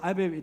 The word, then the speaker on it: ABB: 여러분 이 ABB라고 하는 아베베 여러분 훈련이 있어요. 아베베, 독일식 발음이 아베베 훈련인데 기초 실습 과정이야.